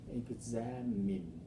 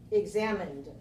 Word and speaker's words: examined: word examine examine mhm examined examined all right we have examine now here's an example where the word in writing ends with a letter e but the letter e is silent yes and the sound